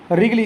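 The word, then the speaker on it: Wrigley: डी है आपका रिगली, इसको रिगली पढ़ते हैं, डब्ल्यू इसका साइलेंट होता है, रिगली फॉर्सेप्स के नाम से जानते हैं।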